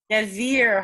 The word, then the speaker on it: Desir: Desir Harper. It's not showing me your whole name. Well, in Desire, it is spelled like desire, but it's Desir. Think of like a Z.